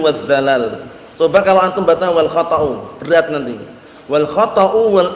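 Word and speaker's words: والخطأ: Kita lihat kalamnya Imam Sa'di rahmatullahi alaih, wal khata' bukan wal khata'u ya bacanya. Walaupun antum baca wal khata'u bisa, cuman biar tepat. Biar nanti lantunannya tepat.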